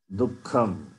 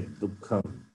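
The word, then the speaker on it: दुःखम्: Dukkham. You can say Dukkham. The visarga also takes the sound of kakara.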